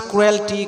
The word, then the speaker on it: cruelty: Similarly, we pronounce cruelty, cruelty. It is totally wrong. E is silent, so cruelty, cruelty.